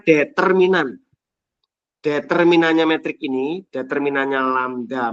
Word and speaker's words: lambda: semua nilai lamda nilai lambda ini bacanya lambda sehingga matriks matriks ini